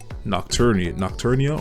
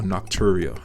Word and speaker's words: nocturia: in turn will cause nocturnia or nocturia is how you say it, however you say it, but nighttime urination, frequent nighttime urination, which interrupts your sleep even more.